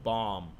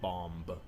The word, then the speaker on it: bomb: It's gnome bomb, not bomb. Right.